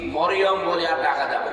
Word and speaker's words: মারিয়াম: মিম র ইয়া মিম মারিয়াম, 40টা নাকি পাবে না। যদি মরিয়ম বলে 40টা গুনাহ, কারণ অর্থ বিকৃত হয়ে গেছে।